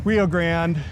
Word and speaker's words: Rio Grande: So we've strolled our way down Rio Grande and uh you guys pronounce it Rio Grande or Rio Grande? Rio Grande.